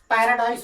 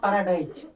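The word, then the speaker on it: paradise: पै पैरा dice पैराडाइस पैराडाइस होगा पैराडाइज जो हम लोग हिंदी में उच्चारण कर रहे है पैराडाइज इसको फनेटिस ट्रांसक्रिप्शन जब ब्रिटिश इंग्लिश में करेंगे तो हो जाएगा पैराडाइस पैराडाइस नॉट पैराडाइज पैरा dice okay तो मैं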